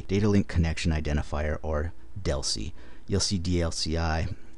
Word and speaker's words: DLCI: link connection identifier or Deli you'll see dlci almost everybody I know that I've ever heard say this pronounces it Deli rather than sounding Out each letter of the abbreviation and the number of